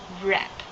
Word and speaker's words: wrap: tied it with ribbon wrap W is not announced W profile emo number